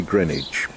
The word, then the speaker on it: Greenwich: I say Greenwich and it's one of those places that tourists have trouble saying because of course it's spelt Greenwich and in my former life we quite often would find particularly Americans who would say hey you know how do we get to Greenwich its Greenwich and I think you're going